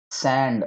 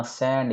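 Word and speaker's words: sand: जैसे कि टी काफी सैंड उच्चारण ध्यान रखना सैंड ये सांड नहीं है दोस्तों ए है लेकिन सैंड सड मतलब होती है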